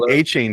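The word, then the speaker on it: Achane: were calling himon DAV a chain does like a train achain I think he just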